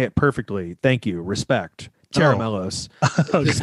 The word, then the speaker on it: Tera Melos: It's so stressful to me, you know, like when we named Tera Melos, I remember at the time the concept was